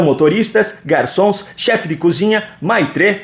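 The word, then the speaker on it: maître: garçons chefe de cozinha maitr que me informaram que se pronuncia Mitre camareiras e outros profissionais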